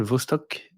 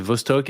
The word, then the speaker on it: Vostok: Une base européenne, donc c'est Concordia, une base américaine et la base russe qui s'appelle Vostok, que je prononce sans doute mal, mais Ouais, si, ouais, c'est Vostok, ouais.